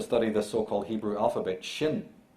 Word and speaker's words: shin: the so-called hebrew alphabet shin is actually pronounced shayne and that is where we get the english word shine to shine like the